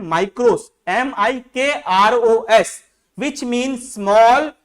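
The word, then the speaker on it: μικρός: में है ना, MIKROS, माइक्रोस ऐसा बोलते हैं हम लोग, कुछ लोग मिक्रोस भी पढ़ते हैं, ठीक है उनका प्रोनाउंसिएशन है, पर इसको हम लोग पढ़ रहे हैं माइक्रोस, MIKROS, विच मीन स्मॉल,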